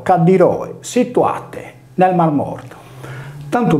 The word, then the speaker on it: Calliroe: In sardo l'acqua calda è detta tra gli altri Cadda, come le terme di Calliroe, pronunciato Cadiroe, situate nel Mar Morto.